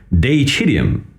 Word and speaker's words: deicidium: Well, the word deicide comes from the medieval Latin word deicidium, as I would pronounce it now. In Latin, this would have been roughly pronounced as deicidium back in the day, which basically means the killing of God.